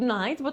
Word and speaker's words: night: ciasno Nie tight Riptide Zauważcie że pisze się i grzechy A czyta się Aid tutaj Night a tutaj